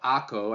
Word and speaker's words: Akko: Number four is one of my personal favorites, a place called Akko. I know it's spelled Acre, but we oftentimes pronounce it Akko.